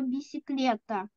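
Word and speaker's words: bicicleta: Тому що навіть у слові бісиклета одна с читається одним способом, друга с читається як к.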